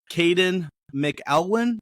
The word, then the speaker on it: Kadin McElwain: Now, today I have Kadin McElwain. Did I pronounce that right?